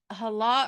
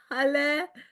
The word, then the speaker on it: Halle: I don't want to say is it hala or h. I I I apologize. I offered that. So no worries. Good day. It's halle pronounced like hallelujah.